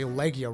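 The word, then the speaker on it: Legiana: is from the lakeyanna I wonder if I should say leisure or leggy I probably should say Legia rhymes bar considering its leg Jana I've been pronouncing it bad this whole time but you guys can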